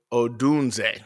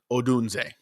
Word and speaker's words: Odunze: So, Odunze.